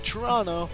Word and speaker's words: Toronto: we have Toronto FC Toronto the first o is silent they're taking on the